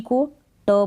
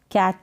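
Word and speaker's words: cat: फिर है सी को क प्रोनाउंस करेंगे तो क्या हो गया, कैट हो गया। केट करके नहीं बोलेंगे, कैट, कैट। ए का साउंड आ रहा है।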